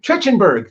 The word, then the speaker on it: Trachtenberg: We're also talking about Predator 5, tapped director Dan, how do you pronounce his last name? Trachtenberg.